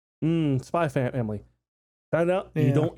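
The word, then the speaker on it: Spy × Family: looking forward to it spy X family um spy family I know you don't you don't pronounce the X oh really okay most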